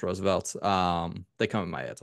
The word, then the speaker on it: RSVLTS: It's RSVLTS. It's pronounced Roosevelt's.